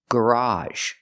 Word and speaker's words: garage: a two- syllable word the second pronunciation is a in the word garage it's an open Sound ah like hot and stop plus a sound Z the sound we see